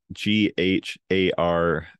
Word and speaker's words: gharial: Gharial. Gharial? Yeah. Gharial.